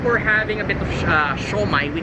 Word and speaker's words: siomai: First off, we're having a bit of siomai. We call it siomai.